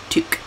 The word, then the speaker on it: toque: Canadian style, pronounced toque.